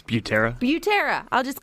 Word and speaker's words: Butera: And joining us to tell us a little bit more is Chief Butera. How do you say it? Say it again. It's Butera.